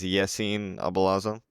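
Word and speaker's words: Yassin Aboulalazm: So my full name pronunciation is Yesin Abalazum.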